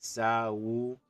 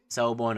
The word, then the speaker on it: Sawubona: Our first lesson was Sawubona, which means hello in English, and how you pronounce it, Sawubona.